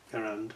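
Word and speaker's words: Garand: Durand rifle, Durand, I should say. always want to pronounce it with a D for some reason. I think that's wrong. It's a G, isn't it?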